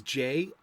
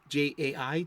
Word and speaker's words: Jai: This is Jay West, Jai, Jay West. He's named after Jay Garrick, but it's spelled in the Korean tradition of his mother's side of the family, Linda Park.